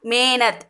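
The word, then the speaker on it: मेहनत: இது வந்து ஹா ப்ரொனவுன்ஸ் வராமல் மேனத் மே அப்படி தான் சொல்லணும். மேனத் இந்த ஹா இருக்கிறதே ப்ரொனவுன்ஸ் வராது, ஹிஹ் சவுண்ட் வர்றதால மேனத் மேனத்.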